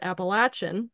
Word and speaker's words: Appalachian: But also the school that they frequently mentioned, which the audiobook narrator consistently mispronounced, Appalachian State University, for the love of God, Appalachian, write that down.